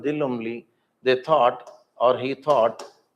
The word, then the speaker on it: Lumley: Mary Antoine de Lumley.